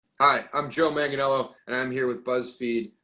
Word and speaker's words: Manganiello: It's Manganiello, as long as you hit the hard G, Manganiello or, Manganiello, as if you are going to talk dirty about me in Italy.